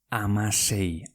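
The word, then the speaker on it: hamasei: Pues escribe Amasei. H-A-M-A-S-E-I. Amasei. Venga, ¿cómo se escribe 20 en euskera?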